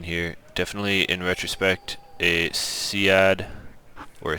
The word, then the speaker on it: SEAD: Definitely, in retrospect, a SEAD or a SEED. I'm told that seed rhymes with sneed, and saying that out